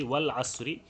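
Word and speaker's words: والعصر: পড়লে উচ্চারিত হয় না যেমন আল আসর এই শব্দটা আমরা এখন যদি উচ্চারণ করি শুধুমাত্র আল আসর শব্দটা যদি উচ্চারণ করি তাহলে এই হামজাটা কি হচ্ছে উচ্চারিত হবে কিন্তু যখন আমরা এর আগে ওয়াও জবর ওয়া যুক্ত করতেছি ওয়াল আসরি তখন দেখছি আমরা হামজা অস্তি উচ্চারিত হচ্ছে না সরাসরি লামে গিয়ে ধরছে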